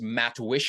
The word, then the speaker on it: Matwishyn: here with Curtis and your last name is matsh is that how how to pronounce it yeah matsh matsh got it okay